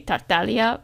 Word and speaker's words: Tartaglia: um in English, but obviously the G is silent in Italian, so it should be Tartalia, but but they gone for Tagalia in the game.